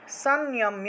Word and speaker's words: সংযম্য: তারপর দেখুন সংযম্য, সংযম্য, এখানে আমরা জানি যে অনুস্বার কোনো একটা শব্দের মাঝখানে থাকলে নয়ের মতো করে উচ্চারিত হয়, তাহলে সংযম্য, ময়ের সাথে জফলা, সংযম্য ইন্দ্রিয় গ্রামম, সংযম্য